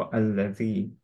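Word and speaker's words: الَّذِي: তো যখনই হচ্ছে আহ, শুরুর যে লেটারটা তারপরে লাম থাকবে, সেটা অ্যাকচুয়ালি উচ্চারণ হোক বা না হোক, স্টিল এটা অ্যাকচুয়ালি আ পড়তে হয় হামজাতুল ওয়াসলের রুলিং এ, যেটা আমরা জানি, রাইট? সো আমরা এখানে পড়বো আল্লাযী। ইউয়াস ওয়েসু, এখানে একটু খেয়াল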